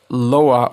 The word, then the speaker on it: Lua: Lua, pronounced Loa, or it's actually Loa, means moon in Portuguese.